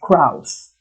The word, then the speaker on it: Krauss: A, Michael Krauss. It's pronounced Krauss.